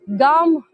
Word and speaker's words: GUM: own style Amy yeah this is a Russian pronunciation um gum well I think this